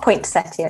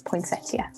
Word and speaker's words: poinsettia: it's not with a T. It's not poinsettia, it's poinsettia. Okay.